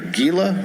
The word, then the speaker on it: Gila: I'm going to say it wrong I'm sure Gila River Gila all right nailing it and